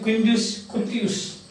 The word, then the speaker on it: Quintus Curtius: The historian Quintus Curtius, Roman historian, Quintus Scutius. Now this, you may think that why I am pronouncing this means because I have already told you, Latin is a phonetic language.